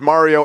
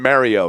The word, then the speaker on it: Mario: enjoyed hearing your name both pronounced as Mario and Mario. Now, I've always wondered what is it Mario or Mario? I'll answer to either.